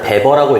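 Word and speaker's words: Weber: 자 저거를 베버라고 읽더라고요.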